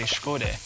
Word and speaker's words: shkode: In my community, we say shkode. Shkode. It literally means new heart.